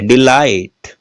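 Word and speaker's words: delight: डिलाइट, GH silent है इसमें।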